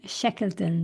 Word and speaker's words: Shekleton: Austin, Texas, our friend and executive coach Megan Shekeleton. Did I pronounce this correctly?